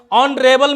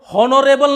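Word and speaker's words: honorable: अब देखते हैं ऑनरेबल मैन। ऑनरेबल मैन हम लोग हॉनोरेबल नहीं बोलते हैं, हॉनोरेबल नहीं बोलना है, ऑनरेबल, ऑनरेबल, ऑनरेबल, यानी ओ का उच्चारण आ रहा है।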